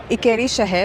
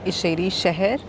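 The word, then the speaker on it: İçərişəhər: town or which is also known as ieri shaher or aeri Shah I don't know how to pronounce it right I checked with the lady at the Museum in shansa Palace that it's actually called isheri shaher and that means in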